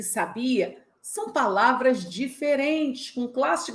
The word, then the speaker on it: sabia: Você sabia que a palavra sabia é verbo? Mas se eu acentuar a primeira sílaba, sábia, vira adjetivo. Mas se eu acentuar a última sílaba, sabiá, vira substantivo? E aí, você já consegue